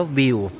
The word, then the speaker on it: Viu: นะ คะ แอป View viu อ่าน ว่า วิว นะ คะ ก็ จะ